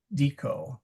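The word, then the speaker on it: dīcō: But the one I really wanted was dico with the long I.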